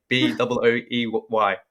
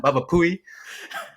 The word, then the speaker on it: Baba Booey: It's BABABOOEY. That's how you spell Baba Booey. All right, it's not Baba Pooey or Baba Pooey.